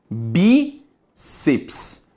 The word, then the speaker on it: bíceps: se separa assim ó bíceps é uma palavra dissílaba Ok a sílaba tônica de bíceps Hebe e como ela é uma paroxítona não terminada em a